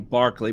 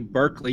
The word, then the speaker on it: Berkeley: believe if I'm correct British pronounce his name Barkley but I believe it's who Berkeley University is named after okay uh may be